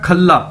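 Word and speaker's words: 渴了: हमने पहले भी ये वर्ड देखा था खल्ला। खल्ला का मतलब था कोक, लेकिन स्पेलिंग वही है, लेकिन अभी इसे हम बोलेंगे खला, खला, खला।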